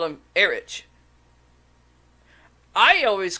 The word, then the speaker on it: Erich: Of course, but a friend of mine asked me why I say Erich when it's actually means Eric. Here's the reason. This guy's name is spelled Erich.